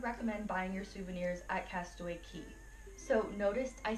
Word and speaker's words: Castaway Cay: now you'll know it's castaway key like a house key like ke Y just